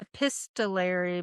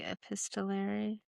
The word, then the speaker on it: epistolary: Epistolary, but I'm not sure if I am pronouncing it right. Let me see. Epistolary.